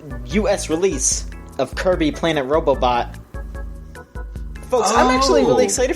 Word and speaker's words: Robobot: release of Kirby Planet Robobot. Folks, I'm actually really excited for this game. Robobot. Robobot. I Did you kept think it said thinking it was Robobot? pronounced Robobit or something.